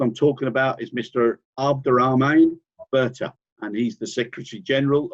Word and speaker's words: Abderahmane Berthe: It's great to have you on board, and I hope I've pronounced your name correctly. Oh, yes, it's correct. My name is Abderahmane Berthe.